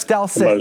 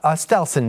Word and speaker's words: Stelson: of seen as oh that's ston uh Ste stelson by the way sorry sorry I mispronounced it um you know she's